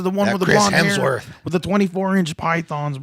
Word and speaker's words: Hemsworth: Hames. Why do you say it like that? It's Hemsworth.